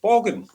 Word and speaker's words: Borgen: So there's The Killing, there's The Bridge, and there's a political drama called Borgen. That's how they pronounce it.